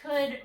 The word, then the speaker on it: could: Another reason is I could, and actually could rhymes with wood. So there's wood, there's could, and all I did was change the W to a C.